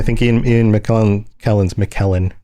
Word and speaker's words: McKellen: And then you bring up Gandalf I think Ian Ian McKellen Kellen's McKellen that's how you say it.